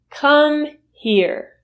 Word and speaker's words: come here: like a native is come here. Come here usually is reduced to come here, meaning the h sound in here is completely eliminated. So you don't hear that sound at all.